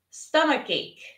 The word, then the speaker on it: stomachache: Now listen and repeat, stomachache. Not H, but ache, stomachache.